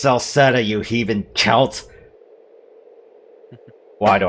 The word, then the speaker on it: Celceta: And we'd like to welcome you to yet another episode of East Memoir Revelations in Kolkata. It's pronounced Saletta.